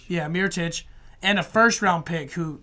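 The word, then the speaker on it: Mirotić: that's believe how you say his name yeah mere touch and a first-round pick who Mira chasers is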